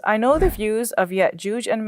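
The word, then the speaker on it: يأجوج: But in the Hebrew, the Jim is pronounced with, it's a hard G. So Gog and Magog, whereas in Arabic, it's the soft G, like in George. So it's Ya'juj and Ma'juj.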